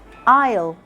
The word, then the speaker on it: aisle: Like in island, aisle, aisle. Yeah, they have the same pronunciation.